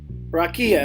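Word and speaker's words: רקיע: Rakia is how you say it in the Hebrew.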